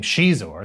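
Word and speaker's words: Xizor: name shizor saying quote i came up with the name shizor based on a cool portuguese sound i had an old portuguese boyfriend named chico with the x sound pronounced sh i'd always liked that sh sound and i just combined it with the zor ending of razor to get a name that had an exotic and dangerous connotation to it another win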